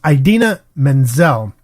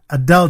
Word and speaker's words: Idina Menzel: I'm not too familiar with her but it's Idina Menzel and he just mangled the pronunciation of her name during the Oscar telecast